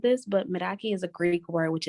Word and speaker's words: Meraki: and I don't think I said this but miraki is a Greek word which is why it's kind of hard to pronounce um and it needs to do everything